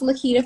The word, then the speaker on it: Laquita: I know it's Laquita. good spelling, yes, I know, but it's pronounced Laquita for me.